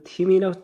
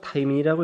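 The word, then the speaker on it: thymine: 그 다음에 사이토신 하나 있고, 이 티민이라고 타이민이라고 읽어야 됩니다.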